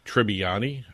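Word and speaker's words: Tribbiani: Joey Tribani.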